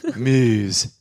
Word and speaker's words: Meuse: Meuse. I'm not even trying to pronounce that wrong. I reckon that's exactly how you pronounce it.